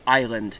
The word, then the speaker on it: island: French, we should probably stick a silent S into our Eyland, and thus we got island with that funky silent S.